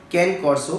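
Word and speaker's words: Cane Corso: कैन कॉर्सो pronounced as के ने कॉर्सो, that's true.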